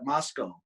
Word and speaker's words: Moscow: Like we have a Moscow, but we call it Moscow. It's spelled Moscow, and that's where the University of Idaho is.